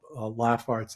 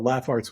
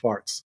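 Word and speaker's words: Laff Arts: as laugh Arts because people often mispronounce it as larts because we spelled it L A FF a r TS so oh dear changed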